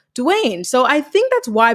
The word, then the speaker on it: Dwyane: wade the basketball player his name is spelled d-w-y-a-n-e so it should be what dwyane or whatever but it's pronounced dwayne so i think that's